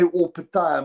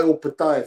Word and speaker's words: Opetaia: Because weirdly, Jai pronounces it, he doesn't care. He responds to J and Jai. Not only that, but also he says Opetaia. There's a video of him saying Opetaia, but a Samoan says,